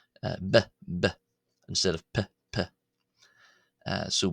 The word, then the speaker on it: ⲡⲓ: However, in the old boheric pronunciation which which is of course itself a reconstructed pronunciation uh it is pronounced as b uh bbb instead of pp.